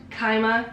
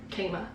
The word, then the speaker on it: Kaima: are phenomenal um and they are pronounced kaima cosmetics we asked the brand they responded they said kaima not kangma or kiowa yeah i don't know